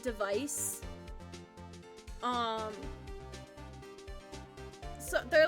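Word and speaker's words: DEV_IS: they're part of what I think it's pronounced device it's d v i s but I think it's pronounced device um so they're like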